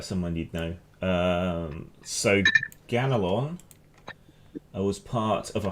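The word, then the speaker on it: Ganelon: indeed uh here lies ganalon the paladin brave and pure however you want to pronounce that i would say ganolon g-a-n-e-l-o-n i have no idea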